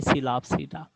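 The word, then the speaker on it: Psilopsida: पहली आप जानते हैं सब डिवीजन, पहली सब डिवीजन से आपके पास आएगी सिलाप्सीडा, पी साइलेंट है इसके अंदर, ठीक है जी।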